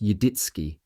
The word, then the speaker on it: Yaditzki: He was referring to the family name Yaditzki, pronounced Yidditski.